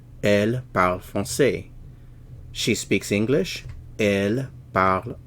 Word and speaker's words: français: French, français. Remember the CCD is pronounced like an S in English. This represents an S sound. The sound S.